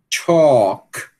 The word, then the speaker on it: chalk: Chalk. Não pronuncia também.